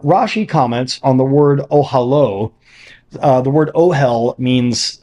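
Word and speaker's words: אהלה: comments on the word ohalo uh the word ohal means uh tent so ohalo means his tent which is pronounced consistent with its usual spelling as if the last letter were the letter VAV in Hebrew the masculine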